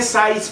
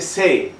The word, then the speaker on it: sais: empiezo diciendo: Je ne sais pas. Y entonces me dice el profesor o la profesora, me dice: así no se dice. No se dice sais, se dice sé. Je ne sais pas.